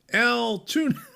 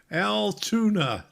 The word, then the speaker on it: Altoona: good to see you so el tuna there you go go altoona all right there you go rusty that's how you say it okay okay steve says